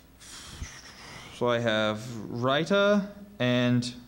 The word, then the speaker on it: raita: dishes for contrasting flavor are there any other pronunciations so I have raita and Rita rder r a i t a writer that's